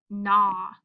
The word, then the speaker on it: gnaw: week is GN, and the G is silent, so it just says N. So we have N. AW says aw, like our straw card. The word together is gnaw.